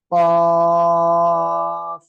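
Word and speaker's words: قاف: টান, তারপরে ক, অর্থাৎ কফ। সবাই একসাথে বলেন তো, মাশাআল্লাহ। তাহলে আমরা এই অক্ষরটা উচ্চারণ করব, জিহ্বার গোড়া তার বরাবর উপরে তালুর সঙ্গে লাগিয়ে আমরা উচ্চারণ করব।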